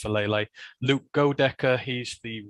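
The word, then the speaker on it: Faalele: They got Daniel Falele, I think I can pronounce his name right, it's Falele.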